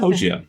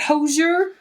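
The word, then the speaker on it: Hozier: How do you pronounce it? Hosier. Is it Hosier? Yeah.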